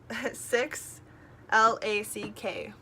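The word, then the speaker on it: 6LACK: And then we went to see Black at 6 LACK, but it's pronounced Black.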